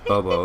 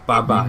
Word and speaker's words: Baba: It's not Bobo, it's Baba.